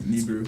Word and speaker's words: Nibiru: Last time I didn't pronounce it correctly. It was correct? Yeah, it's correct. Nibiru.